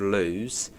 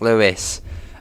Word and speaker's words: Lewes: One being Lewes, which I've heard a lot of time called Lewes, and it's like, oh, Lewes, no, it's Lewes.